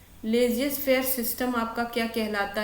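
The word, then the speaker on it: laissez-faire: इसको इसकी स्पेलिंग होती है एल ए I double S ई जेड लेजियस एफ ए आई आर E system S वाई एस टी ई एम ठीक है।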